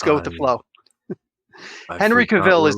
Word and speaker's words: Cavill: about henry cavill though henry cavill is how you say his name it's it rhymes with travel and then okay if